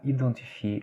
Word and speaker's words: identifier: Par exemple, on a ici le mot identifier, on écrit avec un EN, donc on serait peut-être censé lire, surtout les Brésiliens, identifier, n'est-ce pas? Mais non, là, ça se lit identifier.